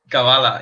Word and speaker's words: Kavala: Kavala, yeah.